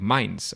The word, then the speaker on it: Mainz: He got his master's degree in economics and geography at the University of Mainz, or I don't know if I pronounced that right.